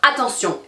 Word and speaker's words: attention: Alors qu'en anglais, on va dire attention. En français, on va dire attention. Et donc, on met plus d'emphase sur cette dernière syllabe.